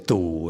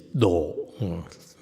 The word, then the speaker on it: 度: In Chinese pronounce it as du, and Taiwanese pronounce it as du. And Vietnamese is do.